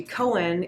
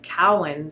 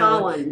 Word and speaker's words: Cowan: So my last name is not actually Cowan, it's Cowan. So Cowan. think of a cow and then Ann. So Cowan.